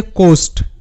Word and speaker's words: coast: দেখি, COAST, এটা হচ্ছে কোস্ট, এখানে কিন্তু AST, আস্ট হবে না, কারণ এখানে দুটি ভাওয়েল পাশাপাশি আছে, ও এ দুটো ভাওয়েল পাশাপাশি আছে, আর ও এ এর উচ্চারণটা হবে ও, মানে ওকারের মতো, এটা পেয়ার সাউন্ড।